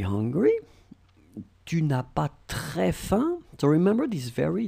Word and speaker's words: faim: Keep in mind that this combination of A, I, M, it will produce the sound un. Okay, which is a really common sound, because we will see that we have so many ways to write this sound, and in that case it's F-A-I-M will be pronounced like faim.